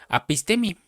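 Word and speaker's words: ἀφίστημι: viene de esta palabra griega que se pronuncia apistemi y apistemi quiere decir darse la vuelta, apartarse, retirarse, pero lo más fuerte es que quiere decir divorciarse.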